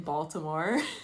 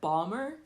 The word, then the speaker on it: Baltimore: So I do add the T in Baltimore, Hmm. but locals, yeah, locals would call it Balmer or Baltimore.